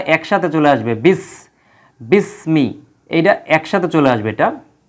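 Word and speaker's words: بِسْمِ: ইসমুন যখন একত্র হবে তখন আর হামজাতুল ওয়াসালের উচ্চারণটা হবে না এই যে যে হামজাটা আছে তখন এর উচ্চারণ হবে না একসাথে চলে আসবে বিস বিসমি এইটা একসাথে চলে আসবে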